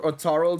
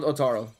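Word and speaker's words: Ottar: Is Otar or Otarl the right translation? Otar. I'm pretty sure it's supposed to be Otar, not Otarl.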